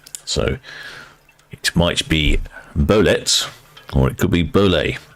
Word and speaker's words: Bolette: Sparks says that's ble it's a French name and it's pronounced to rhyme with Soviet he's just saying so it might be bolet or it could be